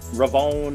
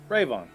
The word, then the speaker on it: Rayvon: a lot of people mispronounce uh ravon they go oh yeah ravone and rayvon like it's rayvon rayvon very simply rayvon you almost don't hear the on it's ravon don't mind me i'm